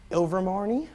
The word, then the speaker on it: Ilvermorny: Rowling has revealed that the name of the North American Wizarding School in the Harry Potter universe is called something I can't pronounce. Ilvermorny, I think is how it's pronounced, but many